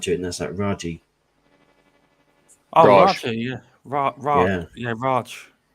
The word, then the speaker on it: Raji: Yeah, I think it is Raji. Yeah.